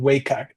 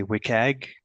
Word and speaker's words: WCAG: How do you pronounce WAG? So it is uh the acronym is uh really WCAG. So you want to say WIKAG uh which is web content accessibility guidelines.